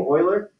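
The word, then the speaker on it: Euler: oh jeez oh no that's how you spell his name Oiler I know it looks like you know it sounds like it should be right Oiler something that but that's actually how you say he's um I forget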